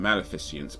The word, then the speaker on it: Maleficent: Maleficent, by the way.